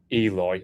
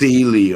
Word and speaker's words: Ely: a Norman bishop of Eli or Ellie however you pronounce it which is like Cambridge she where it meets where Cambridge meets East Anglia like Nor it's Elie I think is how you say it um metro I think